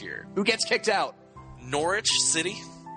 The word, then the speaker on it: Norwich: Norwich City. I'm pronouncing it right now. Norwich, not Norwich. Norwich.